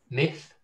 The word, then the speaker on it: myth: Myth, miss. Myth, miss. And again. Myth, miss. Myth, miss. Myth, miss. Myth, miss. ท่านเห็นความแตกต่างไหมครับคือแน่นอนแล้วว่าเนี่ยสะกดนี่แตกต่างแน่แต่เวลาออกเสียงมันจะต้องออกต่างนะ myth ต้องมีตัว th นี่ครับตัว th myth miss นะครับ myth miss นะนี่คือความแตกต่างนะครับโอเค example sentence Samanera the